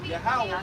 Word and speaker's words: Yahweh: They say his name is Ahia. That's wrong. That's wrong. That's not his name. You read down to the next verse, it says Yahweh by Hashem Yahushua.